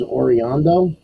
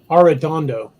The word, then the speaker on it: Arredondo: Her last name's Oriondo? Is that how you say it? Arredondo.